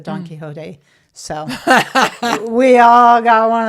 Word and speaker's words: Don Quixote: I think I said Don Quixote's a very long time before I said Don Quixote.